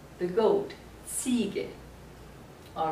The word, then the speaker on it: Ziege: Remember, the Z is pronounced like TS. Here we pronounce it like English, the second letter. So it is Ziege, the goat, Ziege.